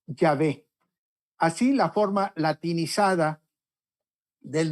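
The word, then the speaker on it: Yahvé: don ahí lo que dio una pronunciación semejante a jehova o más correctamente dicho ya ve así la forma latinizada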